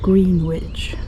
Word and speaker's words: Greenwich: I'm in Greenwich, which is spelt Greenwich. So if you want to sound like a local, you call it Greenwich.